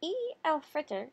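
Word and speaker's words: Eid al-Fitr: taught the kids how to say it on E Al Fritter my family goes to the mosque to pray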